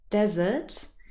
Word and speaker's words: desert: impacts the sounds because in the first word desert we really have a schwa sound here it's not stressed it's this very very short a sound desert but in dessert the er spelling is an er sound because we stress it it's a very different vowel sounds in those two syllables here's another example to